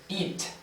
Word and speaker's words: eat: Si no diferencias bien estos sonidos, puede que tengas algunas confusiones semánticas en cuanto a la pronunciación. ¿Por qué razón? Porque cuando pronuncias eso, pudieras decir comer, y cuando pronuncias comer, pudieras decir eso. Entonces tienes que diferenciar bien.